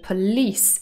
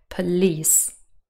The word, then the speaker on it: police: this is an exception police is stressed on the second syllable and that is why many many people mispronounce this word and say polly's instead but that's not right police and last but not